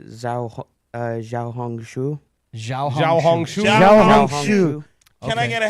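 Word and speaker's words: Xiaohongshu: uh they say ziao Xiao hongu xia can I get a half of half of it is like you hung your shoe yeah so tell us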